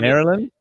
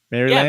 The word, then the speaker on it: Maryland: like that no no it didn't actually sound Maryland Maryland Maryland no don't say land you're good I watch so much American content that I I yeah I'd say it Maryland instead of mostr say